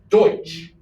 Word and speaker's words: Deutsch: it should be basically the english at the time were too lazy to know how to pronounce deutsch which is the german word for german so it should be